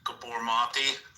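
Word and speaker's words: Gabor Maté: So like if you listen to like, I think his name is pronounced like Gabor Mate.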